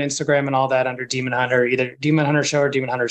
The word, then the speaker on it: DemonHuntr: DemonHuntr, singular, spelled, the hunter is spelled kind of like grinder or Tinder. So DemonHuntr.